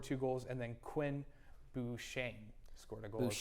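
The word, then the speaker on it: Beauchesne: also scored two goals and then Quinn Buchane scored a goal. Buchane, that's how you say his name, though.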